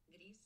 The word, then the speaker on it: Gris: How do you say gray in Spanish? Gris. There you go. That's how it's pronounced.